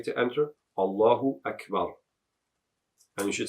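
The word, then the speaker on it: الله أكبر: And you should put sukoon on the ra. Don't say Allahu Akbaru, say Allahu Akbar.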